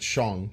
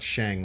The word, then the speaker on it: Shang: first of all though you pronounce it Sean not Shang like a lot of people do uh but also his